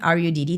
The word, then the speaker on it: Rudd: I'm on LinkedIn, Rudd, u m a r u d d. Thank you for pronouncing Rudd and not rude.